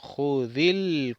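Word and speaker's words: خُذِ: taza, el vaso, Jud, ponemos en la lectura una I para leer corrido, decimos Judil Cuba. Judil, no pronunciamos el alef, pero el lam sí.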